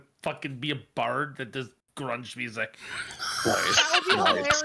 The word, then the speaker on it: grung: an orange grung or grunge is it pronounced grung grung yes yes not grunge like the 90s uh music maybe she's into